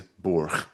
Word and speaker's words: burg: yeah, beauty, but then when it's the nominative, it's always burg. That's at least in Old English. That's generally how we take it to have been pronounced past at least into like the 10th century.